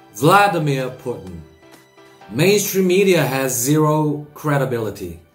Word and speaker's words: Vladimir Putin: 러시아 발음과는 상관없이 영어식 발음은 이렇습니다. Vladimir Putin. Vladimir Putin.